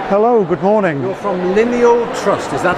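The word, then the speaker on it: Lyneal Trust: You're from Lineal Trust, is that how we pronounce it? That's correct, Lineal Trust, which is just based outside of Ellesmere, and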